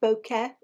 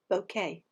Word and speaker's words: bokeh: It's pronounced bokeh. Sometimes you hear it pronounced bokeh.